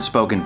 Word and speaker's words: spoken: Let's take the word spoken, for instance. The accented syllable is spo. That's why we say spoken, not spoken.